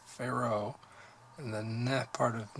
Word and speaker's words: Pharaoh: they tell you to put the emphasis on the far part of Pharaoh and the ne part